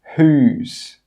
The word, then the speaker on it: whose: Some common examples are whole, who, whose. In all of these words, we're pronouncing the H sound, but we're not pronouncing the W sound.